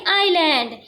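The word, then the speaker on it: island: पर उसे आईलैंड दिखा स्टडेंट यहां पर एस साइलेंट रहेगा इससे हम पढ़ेंगे आइलैंड they they had नॉट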